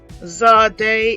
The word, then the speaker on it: Zadeh: Zadeh is the 21st letter. It is pronounced as tz, as in cat.